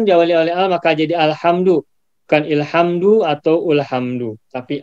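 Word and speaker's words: الحمد: Bacanya apa nih? Alhamdu atau ilhamdu? Alhamdu.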